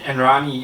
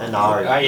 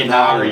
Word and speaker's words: Inari: There was a turning point in the game though where the Enrani, is that how you say it? Enrani Tawala? Inari. Inari. Inari.